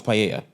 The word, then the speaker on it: paella: No, it's paella. Okay. Well, pa, I guess, but we it's pronounced Spanish cuz two L's.